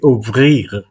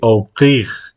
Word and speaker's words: ouvrir: El problema del francés es que La R no se pronuncia igual que en español. Se llama R uvular. Se pronuncia. Entonces, nosotros decimos abrir con la lengua hacia adelante. Pero en francés se dice ouvrir. Ouvrir. Es con la lengua un poco más para atrás.